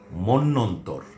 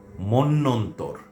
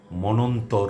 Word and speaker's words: মন্বন্তর: আর শব্দটি খেয়াল করুন এর উচ্চারণ হবে মন্যন্তর। মন্যন্তর। কোন অবস্থাতেই মনন্তর নয় বা অন্য কোন উচ্চারণ নয়। আমরা উচ্চারণ করব মন্যন্তর। ম এর পরে পরপর তিনটি ন আসবে। তারপরে তর এই হচ্ছে মন্যন্তর।